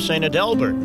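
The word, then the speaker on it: St. Adalbert: was the Basilica of sad Delbert as the locals pronounced it located near downtown Grand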